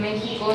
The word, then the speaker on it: México: Y aquí algo interesante es que no sé si alguna vez te has preguntado el por qué en México se escribe con X, pero justamente lo pronunciamos con J.